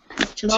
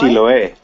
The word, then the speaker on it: Chiloé: And how do you pronounce that? Chiloé? Chiloé.